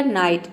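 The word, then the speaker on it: night: रख सकते हैं कि इसमें जो आई है उसको हम आई प्रोनाउंस करते हैं और जीएच जो है ये साइलेंट रहता है यानी कि हम जीएच को प्रोनाउंस नहीं करते हैं अब देखिए नेक्स्ट एग्जांपल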